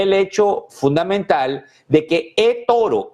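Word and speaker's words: eToro: hecho fundamental de que Eoro, Toro, como se pronuncia en inglés, fijó su precio de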